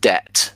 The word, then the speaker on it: debt: So this is just debt. The B is silent.